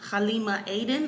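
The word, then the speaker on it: Halima Aden: hired the model that wears her hijab um Halima Aiden I believe is how you say her name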